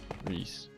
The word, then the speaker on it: Rhys: So I have things like get it Welsh will the the classic name Reese Rhys Reese. Okay. I think it's Yeah, how it's spelled.